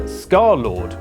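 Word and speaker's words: Scarlxrd: In August 2016, he released his first music video, Girlfriend, under his new name, Scarlord, which is pronounced like that, but spelled like this.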